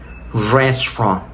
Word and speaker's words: restaurant: la siguiente palabra es restaurant resturant como pueden notar hablar inglés también implica ignorar muchas letras que están escritas esto como ya mencionamos es porque el inglés no es un idioma fonético por lo tanto vamos a prescindir de muchas letras que que estén escritas Así es el inglés